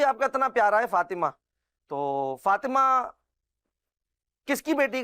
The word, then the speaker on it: فاطمہ: اچھا مدنی چینل کے ناظرین یہ بھی جانیں اس کا صحیح جو تلفظ ہے نا وہ ہے فاطمہ. بعض لوگ جو ہوتے ہیں توئیں پر جو ہے وہ جزم لگا دیتے ہیں، فاطمہ کہتے ہیں. فاطمہ نہیں ہے بلکہ فاطمہ.